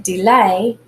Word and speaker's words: delay: And in delay, lay, the second syllable is the one we accent.